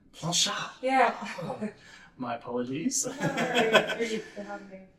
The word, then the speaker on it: Planchat: How do you pronounce your last name? Planchat. Planchat.